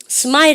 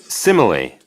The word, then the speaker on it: simile: smile 아닙니다. 잘 보십시오. 여러분들 이거요. Simile.